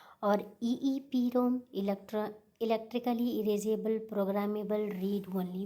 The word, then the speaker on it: EPROM: दूसरा क्या है हमारा, ई पी रोम means erasable programmable read only memory. E पी रोम में हमारा जो होता है वो प्रोनाउंस करते हैं इसको ई प्रोम।